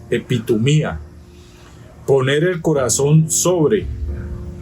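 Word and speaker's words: ἐπιθυμία: 1939 del griego epitoma mucha gente dice epit humia pero la tilde el acento en el griego está en la i epitoma poner el corazón sobre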